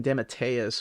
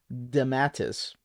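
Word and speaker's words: DeMatteis: went back because I I've been saying de matteus for so long but it's actually damatus so damn where was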